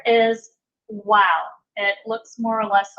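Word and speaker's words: Waw: The next letter is Wow. It looks more or less like a curved vertical line, and this is pronounced W, like our W sound.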